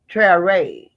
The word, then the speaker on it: Traore: So they pronounce it Traore.